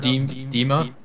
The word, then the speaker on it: Dima: So, Dimmy is not a good person. Yeah, I stubbed my toe. He stubbed his toe. It's pronounced Dima.